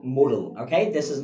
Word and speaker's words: modal: let's talk about the model actually work the pronunciation of this word is correctly like Moodle okay this is not called modal auxiliary most of the people they pronounce this word like uh like model auxiliary verb but the right pronunciation is that Moodle obviously